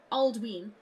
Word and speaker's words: Aldwin: Some examples: Aldwin, pronounced Aldween because of the long vowel sound on the Y.